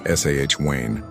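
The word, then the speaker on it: Samhain: If Beltaine was a festival of life and fire, Samhine, pronounced sahh Wayne, was its shadowy twin, a festival of endings, beginnings, and the uncanny.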